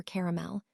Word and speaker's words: caramel: Two syllables or three? If you're from the east coast of America, you likely say three. Midwest two. Southern states may be caramel. British speakers often use three syllables but soften the middle vowel.